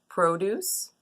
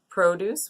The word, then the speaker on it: produce: that's kind of close is produce produce which means our fruits and vegetables versus produce which is to create something so tricky English but